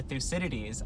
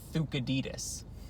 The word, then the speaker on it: Thucydides: I'm pretty sure it's supposed to be Thucydides.